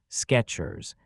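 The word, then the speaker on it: Skechers: The popular shoe brand is pronounced exactly like it sounds, Sketchers. So, it makes perfect sense that people remember the name being spelled with a T. Sketchers like the word sketch just with at the end.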